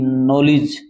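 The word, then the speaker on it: knowledge: के एन ओ डब्लू एल ई डी जी नॉलेज ज्ञान होता है ना साइलेंट रहता है और भी जैसे के एन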